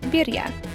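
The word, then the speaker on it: birria: so these are quesa Berea tacos we've since learned that we were saying this all wrong it's actually pronounced birya probably with more of an R roll anyway it's good to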